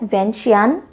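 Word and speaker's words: Vientiane: अब देखो अलग अलग लोग अलग अलग प्रोनाउंस करते हैं, वियंटियान भी कहा जाता है, वियंटियान भी कहा जाता है, वियंटियान इज द प्रॉपर प्रोनाउंसिएशन।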